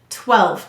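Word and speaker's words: twelve: 12. Go ahead and say 12. How many syllables in 12? 12. 1. Let's sound it out. T, w, e, l, v. Silent final E.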